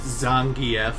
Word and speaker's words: Zangief: Well, actually, his name is pronounced Zangief, but I've been calling him the Geef since I was 6 years old, and it's really hard to break that habit, okay?